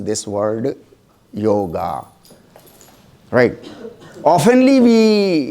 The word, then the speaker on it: योग: आगे करें, right, this is ए योग, बोले आप मेरे साथ, योग नहीं, योग, that's it, this is Sanskrit, योग, बोले फिर से,